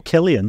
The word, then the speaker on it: Cillian: is a great question how do I pronounce his first name is it is it is it Killian Murphy or Cillian Murphy Oh Killian Killian Killian Killian Murphy